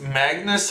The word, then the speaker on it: Magnus: But the thing is, Magnus has a very kind of accepted way of being pronounced in English.